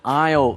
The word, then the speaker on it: aisle: 这边呢提到靠窗的位置是 a window seat。A window seat。那靠走道的位置呢 an aisle seat。aisle A-I-S-L-E 中间的 S 不发音，所以发成 aisle。aisle 就是走道的意思。An aisle seat。如果是坐飞机的话，中间还有可能有位置，但是 the middle seat。M-I-D-D-L-E middle 是中间的意思。有些人喜欢坐靠窗，有些人喜欢坐靠走道，都可以哈。接下来抵达的动词是 arrive at。arrive